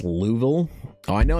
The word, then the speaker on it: Louisville: You're not pronouncing the the S in it.